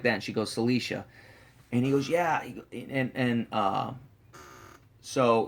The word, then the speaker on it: Czlicia: And he couldn't remember how to spell it. And he's like, "Your name's like Celia or something like that." And she goes, "Celicia."